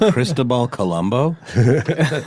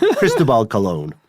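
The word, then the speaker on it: Cristóbal Colón: Did you say Cristobal Colombo? Cristobal Colon. Oh, okay. Mm-hmm. I was like, I am not aware of this pronunciation.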